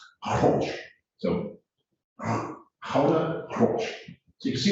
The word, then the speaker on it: Gouda: We say Gouda. They do not. They spell it the same way, Gouda. We say Gouda. They say something like Gouda.